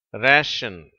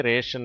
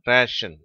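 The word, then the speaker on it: ration: இந்த வார்த்தையினுடைய சரியான உச்சரிப்பு ரேஷன். ஆங்கிலேயர்களும் அமெரிக்கர்களும் இதை ரேஷன் என்று தான் உச்சரிக்கிறார்கள். இந்தியர்கள், சில இந்தியர்கள் இந்த வார்த்தையை ரேஷன் அப்படிங்கிறாங்க. சரியான உச்சரிப்பு ரேஷன்.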